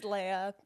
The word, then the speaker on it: Lea: already know you as that people call me Leah and Leia it's technically a layup that makes